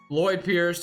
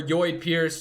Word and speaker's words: Lloyd Pierce: Lloyd Pierce, or Yoid Pierce. Just kidding. That's not how you say it.